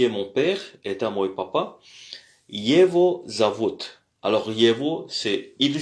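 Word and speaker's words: его: Alors, on dit euh on dit pas on mais on dit on on dit euh Yevo Yevo c'est écrit Yego mais c'est prononcé Yevo.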